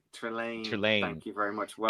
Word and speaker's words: Trelane: Trelane.